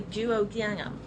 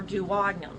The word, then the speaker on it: duodenum: the stomach empties into it that's called the duodenum or duodenum either pronunciation is acceptable the next part the upper